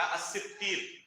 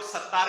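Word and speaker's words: الستير: مثلا ایک نام ہے اللہ رب العالمین کا الستیر. بہت سارے لوگ ستار کہتے ہیں، کہتے نہیں کہتے ستار؟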